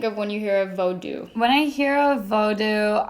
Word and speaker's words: Vodou: because it's already bothering me so the term voodoo is a western term that is actually offensive because the religion that like what we know is voodoo what it comes from is actually pronounced vo vodou um so starting now i'm actually just going